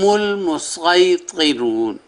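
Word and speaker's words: المصيطرون: لفظ ہے ہم المسیطرون، صاد کے ساتھ اور اوپر سین، جس طرح پہلے الفاظ کا میں نے بیان کیا۔ تو یہاں بھی یہی ہے کہ آپ صاد کے تلفظ سے ادا کریں یا سین کے۔ اور آگے سپارہ نمبر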